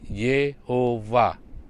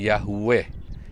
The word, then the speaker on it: Yehuwa: you'd have wow hei menurut aturan masora membacanya adalah Yehuwa bukan Yahweh Yahweh adalah sebuah turunan action dari bahasa Yunani justru tapi yang benar adalah Yehuwa kemudian Kalau saudara lihat